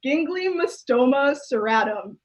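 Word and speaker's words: Ginglymostoma: this i'll try again i googled it to make sure i can pronounce it correctly it's gingly mustoma and gingley just makes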